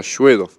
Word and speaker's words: Shvedov: Svedov, a ver, es solo con S, es Bedov. claro, Svedov. Ujú. Eso es la pronunciación en español, porque después en ruso se pronuncia Shvedov.